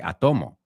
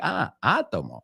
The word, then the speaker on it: átomo: And I used to say that word wrong. I used to say átomo. And then I learned how to use the accents. And I'm like, átomo. Okay. And sometimes I overdo it, pero para asegurar que lo estoy diciendo, átomo. And I know, eso no suena bien, but at least in my head, it helps me remember where to put the accent.